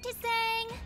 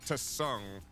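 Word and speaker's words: Tseng: Hi, Mr. Tsang. It is pronounced Tsung, or is it? By the way, the tea is silent.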